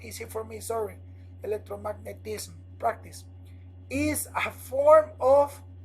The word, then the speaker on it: electromagnetism: is the answer electromagnetism electromagnetism is you have to pronounce the M after the S it's not easy for me sorry electromagnetism practice is a form